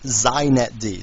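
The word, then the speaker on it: xinetd: me just say a couple things first it's pronounced zet D so if you want to be hip you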